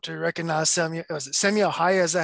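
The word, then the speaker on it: Simo Häyhä: Was it Samuel Haya? Is that how you say his name? Yep. Samuel Haya.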